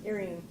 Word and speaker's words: Erying: Crying. Just change the E to a C. It's a crying. Did that. So if you pronounce crying, then if you just change a C to an E, it'd be.